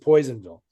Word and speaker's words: Personville: Which is actually Personville, but they pronounce it Poisonville.